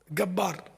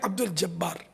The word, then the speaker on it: عبد الجبار: سے پتہ چلا کہ یہ لوگ جیم کو گاف بولتے ہیں مصر والے. بعد میں غالباً یہ تصدیق ہوئی کہ ہاں یہ بیچارے وہ جیم کے تلفظ سے محروم ہیں، صحیح مخرج سے محروم ہیں. گبار ہے عبد الجبار.